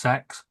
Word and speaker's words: CeX: Yeah, it is pronounced sex.